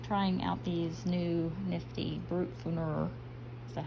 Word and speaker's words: Brutfuner: So we've been working on her face, and we've been trying out these new nifty Brutfuner, is that how you say it? Yep, Brutfuner pencils.